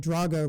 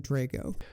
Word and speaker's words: Drago: Russian pronunciation of Ivan rather than the English pronunciation of Ivan, and Drago rather than Drago, who was killed in a boxing match with Ivan Drago.